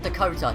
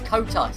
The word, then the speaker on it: COTA: So now, not Dakota. No, not Dakota. It's COTA, Circuit of the Americas, COTA.